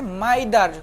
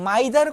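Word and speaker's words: m'aidez: বলে তাদের তো উচ্চারণ মাইদার মাই তারা তো মাইদার আমরা যেভাবে বলি তারা তো সেভাবে বলতে পারে না। তারা এই মাইদারকে এমনভাবে বলতো যেটা শুনতে মেয়ে মেদে মেয়েদে এরকম মনে হতো।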